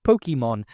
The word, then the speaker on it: Pokémon: As far as I know, no language works like that. But the anime is popular enough that to generations of kids, that is how you pronounce it, Pokemon. And while many in Europe and Japan still call it Pokemon, many have at least adapted the lengthened O. So it's mostly called Pokemon or Pokémon.